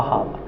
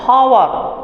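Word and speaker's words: hour: है हां भैया लेकिन एच जो है वो साइलेंट है हावर क्या कता हावर यहां से आपके कंठ से आवाज आ रही है तो इसी के लिए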